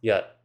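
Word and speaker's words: jat: There are two different words spelled j a t, which is pronounced yat.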